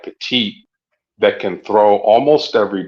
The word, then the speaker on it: Petit: Am I saying his name wrong? Okay, Petit.